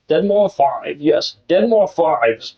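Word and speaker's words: deadmau5: Yes, it's Dead More Five. Dead More Five. I think that's how you say it. Dead More Five.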